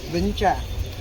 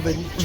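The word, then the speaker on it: Vĩnh Tràng: So this is like called Vinh Trang. Vinh Trang. Vinh Trang at that time. Okay. But they add today the local people they mispronounce that word from Vinh Trang into Vinh Trang.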